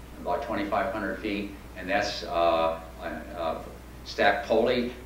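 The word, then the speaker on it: Stac Pollaidh: This is Coldeeg, about 2,500 feet, and that's Stack Poli. You would never guess that's the way it's pronounced. You look at Poli, but anyway, the locals say Stack Poli, so who am I to disagree?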